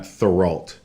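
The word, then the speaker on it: Theriault: a u l t Matt thoral yeah and I don't think he pronounced the T but yeah anyway he's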